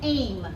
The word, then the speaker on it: aim: If the first word, if the A says its name and the I is silent, then what is the first word, Raquel? Aim, right?